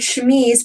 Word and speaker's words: chemise: The word chemise, pronounced like that, re-enters the English language, interestingly, in the 18th century.